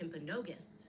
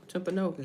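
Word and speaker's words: Timpanogos: Um, actually it's pronounced Temponogus. Tempus hospital. Temponogus.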